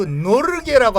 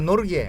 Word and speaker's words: Norge: 노르웨이는요 영어식 이름이고 노르웨이어로는 그 노르게라고 합니다. 노르게. 아 자기들 얘기할 때요? 예, 자기네들은 그 노르게라고 하고 노르웨이는 영어식 발음이고 노르게라고 하고 네.